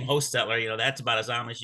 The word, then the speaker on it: Hochstetler: I pronounce it in our family line, pronounce it Hochstetler with a long O. But it's spelled 4 or 5 different ways. Some people pronounce it Hochstetler. Some people pronounce it Hochstetler with a D.